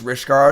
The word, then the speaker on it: Rishkar: Rishkar kind of rhymes with Reptar.